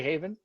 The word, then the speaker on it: HAVIN: speak to the president of haven pronounced how anyone should say haven houston area visually impaired